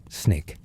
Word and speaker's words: SNCC: The students organize themselves into the Student Nonviolent Coordinating Committee, SNCC, pronounced SNCC.